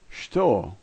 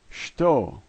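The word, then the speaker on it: что: And this word is pronounced shto, shto.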